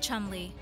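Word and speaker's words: Cholmondeley: married David George Philip commandelli for some reason pronounced as the Martians of Chumley Rose Hanbury married David George Philip Chumley in 2009 David George Phillip was the seventh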